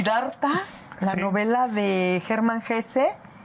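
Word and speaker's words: Hesse: Como si Darta la novela de German Gese German Ges que me encanta que se pronuncia GES, ¿verdad?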